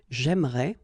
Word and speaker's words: j'aimerais: But then it's exactly the same thing, because even if you get this here and here, you don't pronounce it. So it will go like j'aimerais, or then j'aimerais. Remember, phonetically, they are the same, okay?